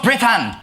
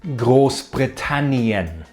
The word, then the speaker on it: Großbritannien: manage to misspell gross Branan coincidentally Radcliffe also mispronounced it he said britan but it should have been gross britanian so breaking it down V Camp means election